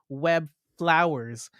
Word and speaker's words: Webflowers: Yes, it's pronounced Web Flowers.